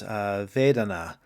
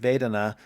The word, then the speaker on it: vedana: a concept that comes from buddhism and it's vedana i'm not sure if i'm pronouncing that correctly but it's v-e-d-a-n-a and this